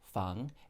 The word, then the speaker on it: feng shui: is in nancy g that's the first word fung and then shui is spelled s is in sam h u i